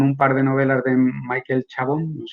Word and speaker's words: Michael Chabon: par de novelas de michael chabon así se pronuncia así él el sindicato de